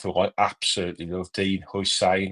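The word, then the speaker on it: Huijsen: I absolutely love, Dean Hussein. I'm never sure how to say his name. Hussein, is it? Hussein? I think so. Spanish kid, yeah. Hoyson, that's it, is it? Hoyson, yeah. Dean Hoyson, young kid, absolutely phenomenal.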